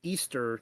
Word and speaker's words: Ishtar: the Persians she became known as Ishtar pronounced Easter to us moderns and her Moon